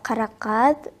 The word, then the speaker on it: Karakat: Now, please forgive me, just to make sure, how do I say your name, Kara Kat? Правильно произносится Кара Кат, в переводе «черная смородина».